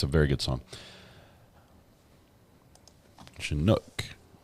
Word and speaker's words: Chinook: a very good song Chinook Accent on the Nook we're doing pronunciation guide